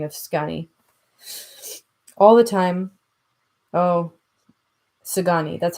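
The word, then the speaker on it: Szgany: All the time, Sagani, that's how you pronounce that.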